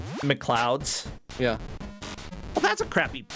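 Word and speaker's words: MacLeods: Bobby, Kung Food, Highlander, the last of the Mech Leods for the Jaguar. I don't know what that is. Mech Leods? That's what it says. Mac L-E-O-D-S. How do you pronounce L-E-O-D-S? It's McLeod. McLeods?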